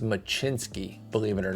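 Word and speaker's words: Mlodzinski: So I'd even go, this, by the way, this is pronounced Machinsky, believe it or not.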